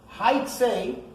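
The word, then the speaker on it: היצא: In the Torah, it's written Hey, Vav, Tzadik, Aleph. And if you read it the way it's written, it has a totally different meaning, actually. Haitze is the way it's pronounced.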